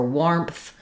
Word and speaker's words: warmth: when we add a W to words with AR, they usually just say the OR sound rather than the R sound. Same is true for warmth, warning, warn, etc. And you might actually be pronouncing these correctly, but you might have thought you were saying an AR sound, or you might be